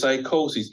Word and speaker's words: psychosis: and S is psychosis. Even though we know psychosis starts with a Right. P, P is silent.